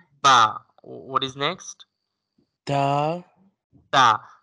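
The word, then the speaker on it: ت: Ta. Ta will be pronounced as I told you when tip of the tongue touching to the gums of upper two front teeth.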